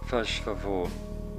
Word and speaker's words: faz favor: Faz favor is spoken softly and the Z is blurred into a sh.